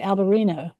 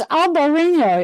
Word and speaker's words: Albariño: I say British people, still say Albarino. And I'm like, look, it's got a tilde on the top. It's Albarino. It's much more fun to pronounce.